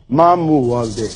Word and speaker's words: ማሞ ወልዴ: Mamu Walde. How you pronounce it?